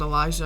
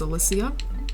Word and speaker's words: Elysia: favorite book series and it's called Elysia that's how you pronounce it I found out I always pronounce it Elisha ox I thought they made sense in my brain but it's Eliseo which I think sounds cooler so all right guys